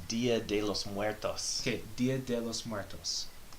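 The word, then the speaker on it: Día de los Muertos: It's Dia de los Muertos.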